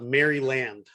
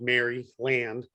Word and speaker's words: Maryland: had people call it Maryland. Really? Because they read it instead of heard it. Right, because they read it phonetically, which is Mary. It's spelled Mary Land, but it's pronounced Maryland.